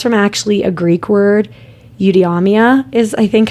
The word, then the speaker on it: eudaimonia: Eudaimonia is, I think, how you say it, which translate to flourishing or living well.